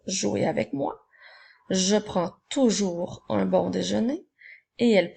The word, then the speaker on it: toujours: mot toujours le mot toujours a également une lettre muette retiens le bien le mot toujours s'écrit toujours avec un S alors retiens-le nous en